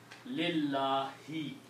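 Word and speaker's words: لِلَّهِ: So it became li, Allahu became lillahi. Okay? That's very important because that effect will ripple through that. Okay? So the pronunciation is lillahi.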